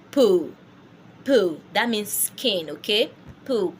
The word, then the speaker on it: peau: Peau. That means skin, okay? Peau. Peau means skin. So when you say PEAU, you just go on and say peau, not pure.